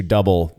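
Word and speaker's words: Dubbel: It's pronounced double. And I've watched numerous videos of people who are from that area who refer to it as double. So I've accepted that I was saying it wrong and have made the switch to double from double.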